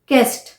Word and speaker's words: guest: या यू ई का कॉम्बिनेशन है, गेस, GUESS, गेस, गेस्ट, GUEST, गेस्ट।